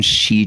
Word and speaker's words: Xi: on the pronunciation of the she in Xi Jinping anywhere between C and she is fine but definitely no ji yeah now this is